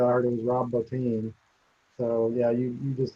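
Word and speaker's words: Bottin: Um, Rob Boutine, the the makeup guy, the horror makeup guy. I mean, when I was a kid, that was Botton. Rob Botton.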